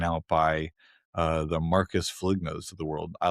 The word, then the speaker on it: Foligno: my knee taken out by uh the Marcus Foligno's of the world." I like pronouncing it Foligno.